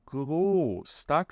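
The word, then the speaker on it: groß: a nossa visão tá essa letra aqui ó ela se chama s7 é uma letra que tem o valor de dois s então aqui a gente pronuncia gostak significa grande só que quando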